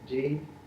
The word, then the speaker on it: dhyana: So that the very term for meditation in Sanskrit is spelled in transcription D-H-Y-A-N-A. Dhyana.